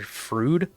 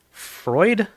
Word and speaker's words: Freud: name I it might supposed to be Dr frud Freud Freud is how you pronounce it f r e u d um